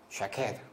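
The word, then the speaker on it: שָׁקֵד: 근데 이 아몬드, 이 살구나무가 그 히브리어로는요, 발음이 쉐케드입니다. 쉐케드.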